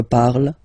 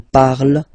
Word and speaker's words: parle: So even if you've got this ent, well, don't hate me, but you won't pronounce these letters. Okay, you have to write them for the plural form, but you don't pronounce them. So you get il parle, elle parle.